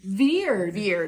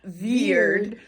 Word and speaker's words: Veered: Veered. It's spelled like with weird. Spelled like weird, but it's pronounced Veered.